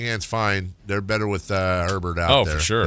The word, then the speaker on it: Herbert: Chargers quarterback Justin Herbert had surgery on his non-throwing hand this week and still plans to play on Monday night.